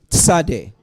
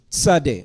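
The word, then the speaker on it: צדי: a z sound and it's not a t sound it's a t z sound Sade Sade like sedek righteous said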